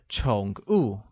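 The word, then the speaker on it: 宠物: Pets translates as 宠物, and is pronounced with a falling rising tone on O and a falling tone on U.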